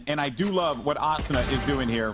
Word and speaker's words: Asuna: is immortals coming out on top asana though Asuna how do you say his name can we get an official you were casting my kid okay no no no it's asana puckett because it comes from an anime called